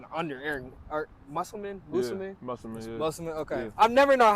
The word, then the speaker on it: Musselman: Musselman. Okay, yeah. I've never known how to fully pronounce the name.